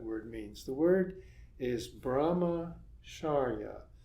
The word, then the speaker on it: brahmacharya: The word is brahmacharya. Here I've separated it, brahmacharya, to make it easier for you to pronounce.